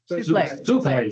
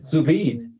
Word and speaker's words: sous vide: point out we can do the, I can't pronounce the word, it's a French word, the sulfide. Souffle. Souffle. Yeah, souffle. Souffle. Yeah, souffle. Souffle. Sous vide.